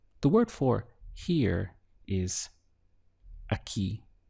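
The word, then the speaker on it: aquí: word for here is a key literally it sounds like a ke in English but it's spelled obviously this way a ke means here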